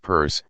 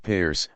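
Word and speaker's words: Peirce: Pierce 1839 to 1914 whose family name is pronounced Pur not peer argue along similar lines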